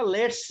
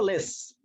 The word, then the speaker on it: let's: আচ্ছা, তো আমাদের এখন যে বাক্যটা আছে সেটা হলো যে এর উচ্চারণটা আমরা লেটস বলবো না, বলবো লেস, টিটাকে সাইলেন্ট রেখে লেস।